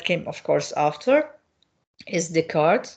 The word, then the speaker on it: Descartes: Now, another one is that came, of course, after is Descartes. Descartes is, as you can see, the S is not pronounced here. It's a French word, a French name.